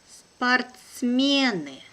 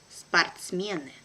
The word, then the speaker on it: спортсмены: Спортсмены. Спортсмены. So here letter O also is without accent and I pronounce it like A.